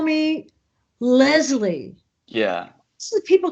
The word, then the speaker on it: Leslie: Okay, for me, it's Leslie. Yeah, this is what I said. Yeah. Leslie. But I find a lot of people just call me Leslie.